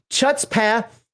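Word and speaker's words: chutzpah: it's spelled except that the ch is pronounced like you're clearing your throat it's a rule in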